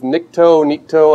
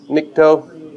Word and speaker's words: Nikto: Are any of you familiar with Nikto? I don't know how to say it. Do you know how to pronounce that? You can go either way. Nikto.